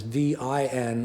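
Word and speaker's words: vín: days see it as v i n with an accent on the i v n land meaning land of wine or land of grapevines.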